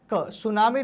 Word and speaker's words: सुनामी: शब्द है सुनामी है तो सुनामी शब्द है देखिए एक भाषा देश में जो एक देश की परिभाषा अक्सर उसके नाम में जो टी है वो आगे का जो शब्द होता है वो साइलेंट हो जाता है वैसे तो बहुत